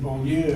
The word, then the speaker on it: Beaulieu: I'm very happy to be here, and I am impressed that when Scott said Beaulieu, I said, oh my gosh, I haven't heard that correctly pronounced in the South a long time, You